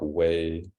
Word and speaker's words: wei: and then um I'll say like way first of all it's just like a word that I channeled and it's spelled w-e-i and I don't really